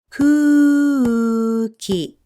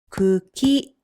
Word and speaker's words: くき: This one has a single vowel u, which takes only one beat to pronounce. So this word is cookie.